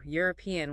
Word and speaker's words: European: Ooh, European with that stress on the second syllable.